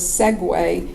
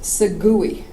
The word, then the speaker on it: segue: that I learned that the word segue, which is, of course, segue, is not pronounced segui. There was this moment on the radio when I was just about to say, Sagui, which would not have been good.